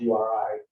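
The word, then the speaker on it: Jurij: It's pronounced Yuri, even though it's got J's at either end. I wanted symmetry, so I got it. But it's pronounced URI.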